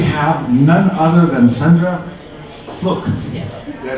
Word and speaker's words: Fluke: all of her students, my name is Mrs. Fluke. It rhymes with book because I like to read.